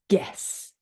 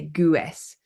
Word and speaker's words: guess: and before a vow so for example guess we don't say Gess guidance guitar guest okay